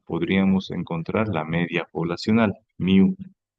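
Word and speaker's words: μ: Miu es una mu en el alfabeto griego, pero se pronuncia miu, ya de todas las viviendas de la ciudad.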